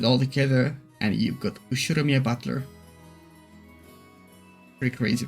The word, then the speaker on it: Ushiromiya: The first part is my family name, Ushiromiya. Ushiromiya? Yeah, I know. That's a fairly plausible Japanese pronunciation so far.